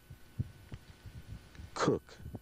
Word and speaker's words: Coke: George Coke, although this day and age the name is pronounced Cook.